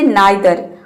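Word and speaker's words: neither: Next है नाइदर। आप इसको आइदर को ईदर भी प्रोनाउंस कर सकते हैं, दोनों सही है, और नाइदर को नीदर भी प्रोनाउंस कर सकते हैं।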